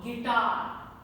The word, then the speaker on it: guitar: French introduced the silent U when it comes with G. So, guitar, guilty, guess, colleague, then circuit, biscuit. In all of them, U is silent.